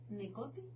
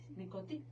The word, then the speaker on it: Necothy: es fundadora del centro Necoti, así se pronuncia, Necoti, donde ejerce desde hace 18 años como psicoterapeuta, asesor educativa y empresarial.